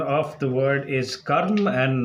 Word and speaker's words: karma: word in sanskrit is kerm just like the word firm and the ra sound is a little more prominent so especially the western